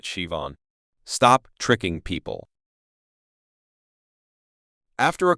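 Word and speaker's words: Siobhan: In Ireland again, an American tourist saw the name Cob N and fumed, "There's no V in this. Just spell it, Shivon.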